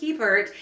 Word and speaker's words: Hebert: Just to let you know, I was in those videos going by the American pronunciation of my name, which is Hebert.